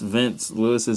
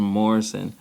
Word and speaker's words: Vince Lewis: We pronounced Vince Lewis's name wrong. We called him Morrison.